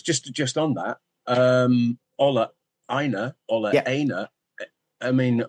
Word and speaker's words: Aina: I mean, Ola pronounces his own name in different ways. I've noticed. So I usually go with Aina, but occasionally I've dropped in an Aina because I've heard it refer to it as Aina, and I don't know.